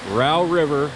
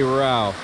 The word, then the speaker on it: Row River: This is the Row River, as it's pronounced here. It's spelled Row River, like rowboat, but they say Row.